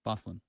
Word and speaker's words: Byfuglien: Byfuglien.